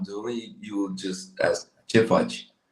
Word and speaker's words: Ce faci: Oh, English pronunciation. Spelling. Yeah, like phonetic. Like phonetic. C-H-E. Oh, it's Che fudge.